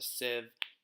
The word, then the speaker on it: sieve: and if you don't, it's basically called a sieve. You can look that up. It's spelled S-I-E-V-E, and it basically allows you to strain things.